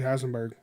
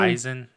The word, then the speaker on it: Eisenberg: I like Jesse Heisenberg, or however you say his name. Jesse Eisen. How do you say his name? Eisen. Heisenberg. Heisenberg. Yeah, whatever it is. There's no H.